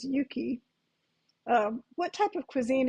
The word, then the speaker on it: Yuki: yeah y UK Ki I hope nobody looks at that and says yucky because the Japanese pronunciation is Yuki um what type of